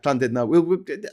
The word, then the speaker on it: Llandudno: Yeah, Llandudno. I mean, that would be boss. I would pub crawl along the pastel-coloured promenade. I fucking love Llandudno. My love for Llandudno is about the same level as my hatred for Blackpool.